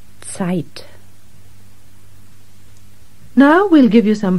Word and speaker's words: Zeit: And just to remind you, the German Z is pronounced as if it were TS. Zusammen. Zeit.